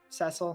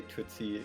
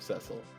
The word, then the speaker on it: Cecil: yeah um yeah i would not say twitsy is a valid pronunciation of cecil oh dear well